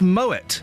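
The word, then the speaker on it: Moët: You say Moet et Chandon. No, sorry. The French call it Moet as well.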